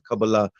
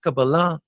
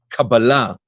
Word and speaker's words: Kabbalah: just the title but even the pronunciation uh we rather use the Kabbalah the Hebrew version of the pronunciation which is you know kabbalah sounds very American that's right okay yeah